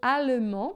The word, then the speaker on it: allemand: Geralmente, olha só, a gente tem um D final, um S final que a gente não pronuncia, né?